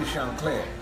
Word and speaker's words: Chancler: We pronounce it Chancler, but it's really Chancler because it's French. but because of the colloquialism in Louisiana, it became Chancler.